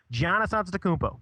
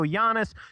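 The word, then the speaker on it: Giannis Antetokounmpo: love of God please start saying his name correctly don't just pretend like you don't know his name Janis anmo that's how you say his name now you can go Giannis you can say it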